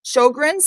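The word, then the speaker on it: Sjögren's: She's dealing with Sjogren's. I think I pronounced it Yes.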